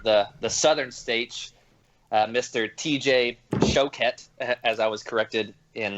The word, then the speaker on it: Choquette: TJ Choquette, as I was corrected in the pronunciation of his last name.